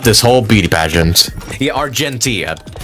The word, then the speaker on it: Argenti: Yeah, Argenti. Keep mispronouncing his name. You have to pronounce the G. Like, really pronounce the G.